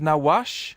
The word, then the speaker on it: Nawash: I meant to check the pronunciation of your First Nation organisation, Chippewas of Nawash.